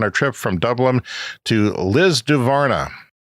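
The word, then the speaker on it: Lisdoonvarna: electric vehicle on our trip from Dublin to Liz duvara Liz dun Varna that is how it is pronounced but I looked on Wikipedia and its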